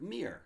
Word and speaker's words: Mir: Also, Mir is my actual name, and it's pronounced like the word Mir.